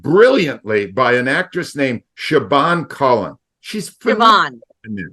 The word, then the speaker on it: Siobhan: a woman played brilliantly by an actress named Siobhan Cullen. She's phenomenal in this. It's pronounced Siobhan.